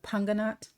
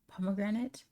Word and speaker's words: pomegranate: Where I'm from, they call it panganat. Weird. Why would you call it that? Isn't it pronounced pomegranate?